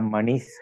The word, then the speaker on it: मणि: गोपी लोचन चाटकाम्बुद मणि सौंदर्य मुद्रा मणि गोपीलोचन चाटकाम्बुदमणि सौंदर्य मुद्रामणि बीच में कहा मणि ही है या मणिस है, उसे मणि करके प्रोनाउंस करना इन बिटवीन द लाइन।